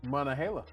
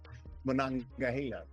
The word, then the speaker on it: Monongahela: Monongahela. Monongahela.